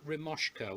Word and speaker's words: Remoska: cooking on the boat is a thing called romesco which is our e M o s ka it's spelled and basically what that is is this